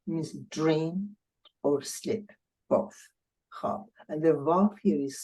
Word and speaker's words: خواب: facilitated to the خواب, and the verb is silent. I mean, you don't hear it anymore.